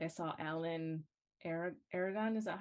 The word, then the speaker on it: Aragon: in the fitness industry um like I saw Alan Aragon is that how you say it yep and